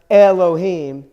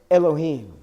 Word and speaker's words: Elohim: classes that we had technically the C goal in Elohim is a compound sigil and it's not pronounced Elohim its Elohim you know so it's sort of like makes it slower but just I'm only